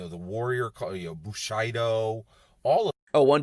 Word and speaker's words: Bushido: didn't catch it but he says Bushido instead of Bushido like it's Bushido come on gabbe if you're a master of this stuff you should know how to pronounce Bushido it's it's a word